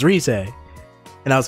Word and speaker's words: Rise: first when you first saw risay and read it like rise not risay no i i i i had enough experience playing you know japanese games where i went i went her name's like pronounced phonetically right so it's risai and i was like